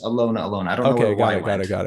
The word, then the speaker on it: Alyona Alyona: I think it's pronounced Alyona Alyona. I've heard her pronounce it just Alyona Alyona.